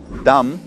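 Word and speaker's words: dumb: фильм тупой и еще тупее original его называется dom n дома но все детство я не знал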